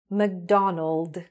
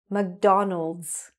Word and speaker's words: McDonald's: So without the S, McDonald, McDonald. With the S, the way it should be, McDonald's, McDonald's, okay?